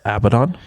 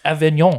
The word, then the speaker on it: Avignon: to a university called Abdon. Avanon Avenon. Oh. Oh I was about to be in French it's Avignon.